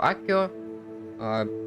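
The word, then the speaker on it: Accio: Сегодня мы изучили новое заклинание Акцио. Или как они произносят его Аккио.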